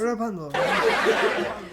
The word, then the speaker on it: Rapunzel: You gotta roll your R's. Rapunzel.